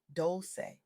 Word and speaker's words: Dolce: I'm Dolce, pronounced doulce, like sweet softness whispered in French.